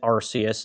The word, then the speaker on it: Arceus: RCS that's rks okay doc House pronounces it Arceus therefore the pronunciation is RCA behind that he's an